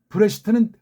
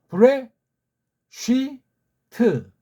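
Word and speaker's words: בראשית: 그냥 브레시트는 틀린 발음이에요. 브레 쉬트.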